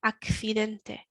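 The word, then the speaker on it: accidente: got a ai finente remembering that the c followed by an i is a f sound akfidente so we've got the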